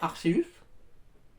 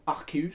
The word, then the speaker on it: Arceus: palalkia apparemment ce serait Arceus ou archeus ça dépend comment vous prononcez moi j'ai toujours dit archeus ou Arceus ça dépend c'est pas